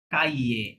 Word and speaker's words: cahiers: কাইয়ে। মাঝে যে আশটা আছে বলেছি যে ফরাসিরা আশ বা এইচটা লেটার কি করতে পারে না, উচ্চারণ করতে পারে না। সুতরাং ওটা সব সময় সাইলেন্ট রাখবো, হ্যাঁ?